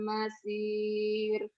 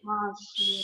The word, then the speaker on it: المصير: Wa qalu sami'na wa ata'na ghufranaka rabbana wa ilaikal masir. Bukan masir. Masir. Masyir, Sod. masyir. Sod ya. Itu. Wa qalu sami'na wa ata'na ghufranaka rabbana wa ilaikal masyir.